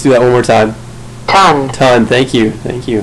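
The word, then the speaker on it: tonne: that one more time ton ton thank you thank you thanks all right so ton that's pronounced ton just like we would pronounce ton with t o n without this extra NE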